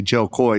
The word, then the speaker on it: Jo Koy: But and the way she says it isn't the way we say it. So we say it phonetically, Jo Koy. She says it Jo Koy.